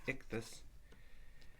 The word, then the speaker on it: Ichthys: And the word Ichthys, you can kind of pronounce it like this, Ichthys.